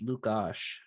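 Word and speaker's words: Lukáš: I've been told it's Lukash. Like you pronounce it Lukash, but Lukash. You add the at the end of his name. That is how I was told to pronounce it.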